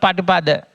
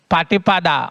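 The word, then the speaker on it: paṭipadā: Not Patipada. Patipada. Majjhima Patipada. Yes. Long vowel.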